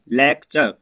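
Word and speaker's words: lecture: ठीक है, तो छोटा आ का मतलब प्रोनाउंसिएशन निकलता है। तो फिर देखिए दोस्तों एल ई सी टी यू आर ई लेक्चर, एफ यू टी यू आर ई फ्यूचर, सी यू एल टी यू आर ई कल्चर।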